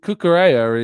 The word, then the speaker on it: Cucurella: Cucurella is the Spanish pronunciation, but you're saying that Italians would pronounce it Cucurella because it sounds Italian when you say it that way.